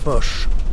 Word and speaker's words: Foch: Le nom de monsieur le maréchal, doit-on le prononcer Foch ou Foch? Foch.